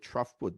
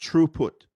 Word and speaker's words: throughput: location uh true put some people call it troughput but actually should be pronounced true put the measure of the transfer of bits across